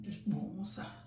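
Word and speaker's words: Ikpomwosa: That I that is pronounced as I in English, we pronounce it as E, as in Ikbomusa.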